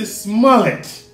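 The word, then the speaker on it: Smollett: But for Jessie Smallette, that's how you pronounce it, Smallette. It's Smallette.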